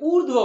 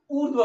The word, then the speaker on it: ऊर्ध्व: ये है उच्चारण की दृष्टि से इसे ऊर्ध्व बोला जाएगा। उच्चारण की दृष्टि से इसे क्या बोला जाएगा? ऊर्ध्व बोला जाएगा।